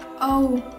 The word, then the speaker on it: 0: Oh. Các bạn để ý thấy số 0 được đọc giống như chữ cái O trong bảng chữ cái tiếng Anh đúng không ạ?